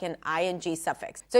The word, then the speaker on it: -ing: Now, finally, let's talk about the ing suffix, ing. Technically, it's a lax E sound and then an NG, ing. Doesn't have a G sound at the end.